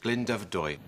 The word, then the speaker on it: Glyndyfrydwy: Yeah, if you do it in two sections, Glyndyfrydwy. Right, so there we are. So I still haven't improved. It's, what is Glyndyfrydwy? Glyndyfrydwy.